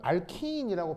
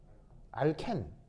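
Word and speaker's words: alkene: 영어에서 온 거잖아 그럼 영어의 원래 발음은이 장모음이라고요 이걸 알키인이라고 발음하는게 영어에 원래 발음이라고요 근데 이거를 우리나라가 누구를 통해서 먼저 배우겠어요 일본을 통해 일본은 이걸 어떻게 발음해요 알켄 알켄이라고 발음이에요 왜 독일식으로 무슨 말인지 알겠습니까 그래서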